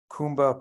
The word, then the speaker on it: Kumba: is also the founder of Kumba Publishing. Am I pronouncing that right?